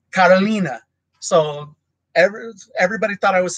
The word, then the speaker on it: Carolina: like in Portuguese, it's Carolina. So everybody thought I was saying Catalina. So, but it's Carolina. So it's how they pronounce it in Portuguese. The R makes kind of a weird, almost H sound, rather than in Spanish,